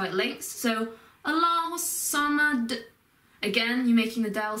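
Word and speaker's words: الصَّمَد: Again, you put the emphasis on the se sound, so it's Allahu samad. You hold the hus sound for a bit, because that's how it links. So Allahu samad.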